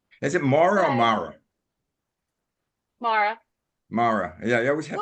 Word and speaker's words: Maura: Mara. Mara. Yeah, I always have. Oh, I've been calling you I always Maura. think of doing Maura. Maureen. It's pronounced somewhere between Mara and Mora.